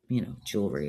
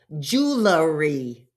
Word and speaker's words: jewelry: The other one is jewelry. Jewelry. It's not jewelry.